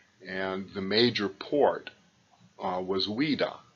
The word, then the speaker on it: Ouidah: In the French, O-U-I is oui, so Ouidah.